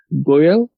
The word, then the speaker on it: Goel: hope you already know my name and then pronounces it correct but my name is goyal and i started as a full-stack web application